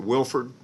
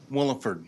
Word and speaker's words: Williford: Am I pronouncing that correctly? Is it Wilford? Williford. Williford, got it.